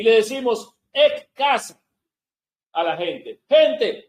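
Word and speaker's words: ἐκ: El número que corresponde a entre los 7 es G1537, que es el griego 1537, que en el griego se pronuncia ek.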